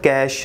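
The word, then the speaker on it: cache: कैश memory क्या होती है, इसकी प्रोनाउंसिएशन कैश है।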